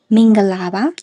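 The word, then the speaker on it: မင်္ဂလာပါ: And if we break down the phrase except for ga which is pronounced with a short tone, the rest are all middle tones.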